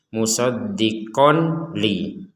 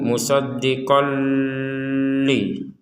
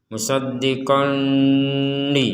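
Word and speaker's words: مُصَدِّقًا لِمَا: Di sini ada tanwin bertemu lam, maka kita membacanya dimasukkan. Jadi dimasukkan tanwin ini kepada huruf lam. Jadi tidak dibaca jelas ya. Kalau dibaca jelas itu musoddiqon li musoddiqon li jelas kalau dibaca dengung.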